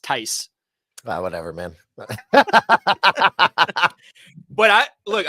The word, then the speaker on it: Theis: he's a European gentleman whose name is pronounced Ty whatever man but I